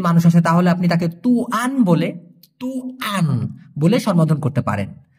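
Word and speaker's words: tuan: টাইপের একজন যদি মানুষ আসে তাহলে আপনি তাকে তুয়ান বলে তুহান বলে করতে পারেন অথবা কোন দোকানের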